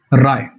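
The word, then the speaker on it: wry: Next पे आइए राय राय डब्ल्यूएस में साइलेंट होता है। राई ब्रई नहीं होता है।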